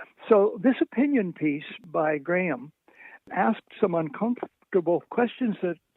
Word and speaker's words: Graeme: It's Graham. His first name is spelled Graeme, Graham, Okay.